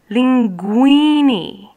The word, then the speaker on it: linguini: They're usually pronounced G. For example, Figaro, Ga, G-A. Or what about this word? Linguini.